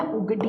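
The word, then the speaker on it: Ugadi: English में spelling लिख देती हूँ मैं, उगडी, उगडी बोला जाता है, ठीक है।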